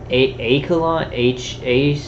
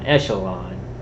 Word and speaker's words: Echelon: Memorial Care Health System, CSG Systems Incorporated, Acalon, I don't know how to pronounce that. Acalon Technology, what is it? I don't know how to pronounce. Acalon and Technology Incorporated. You guys try that one. Echelon. It's Echelon Technology Incorporated.